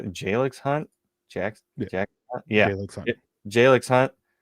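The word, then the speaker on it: Jalyx Hunt: Jalix Hunt.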